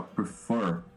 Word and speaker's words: prefer: Porque o stress aqui, ó, prefer, né? Ele termina, o stress termina aqui, ó. As palavras não têm acento em inglês, mas elas têm a sílaba tônica, né?